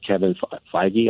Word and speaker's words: Kevin Feige: I don't have enough praise for the people Kevin Feige I see that's how you pronounce his name and you know and the